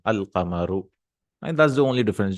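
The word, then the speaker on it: القمر: And in Qamar, we'll pronounce the lam, al-qamaru.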